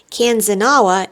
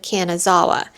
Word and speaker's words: Kanazawa: When talking to an attendant to make sure that we were standing on the right platform, I mistakenly said Kanzanawa instead of Kanazawa.